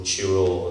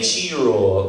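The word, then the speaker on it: Cairo: a place called Chiro, they say Chiro, some of them out there. It's like 3 pronunciations. Okay, well, all the African Americans say Chiro when we were there, and that's what Dizzy Gillespie used to say, yeah.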